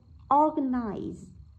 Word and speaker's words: organize: Từ đầu tiên đáp án A, organize, organize. Vậy từ organize, chúng ta thấy từ này phát âm, trọng âm rơi vào âm thứ nhất.